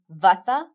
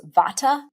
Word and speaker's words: Vata: They are what we call in Ayurveda Vata, Pitta, and Kapha. Here in the West, we pronounce those Vata, Pitta, and Kapha.